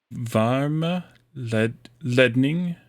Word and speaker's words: Varmeledning: was- Yes, that was better, but the emphasis is on the E in the second syllable. Varmeledning. Longer E.